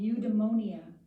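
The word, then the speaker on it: eudaimonia: even got a name it's called udonia it's pretty weird now that I say it it's spelled EU d a i monia Greek and that is the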